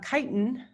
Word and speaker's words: chitin: planet and then um chitin which it looks like chitin but it's it's like chi if you've ever been in a fraternity they spell chi is